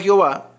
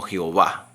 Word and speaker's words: Jehová: Hubo un tiempo en la historia del cristianismo que agarraron las vocales de Adonay y se las pusieron a las cuatro consonantes y una transliteración de años hizo que le pronunciáramos como Jehová.